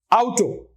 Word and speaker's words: Auto: word last word Auto Auto out two vowels and which combination is pronounced as out a u correct a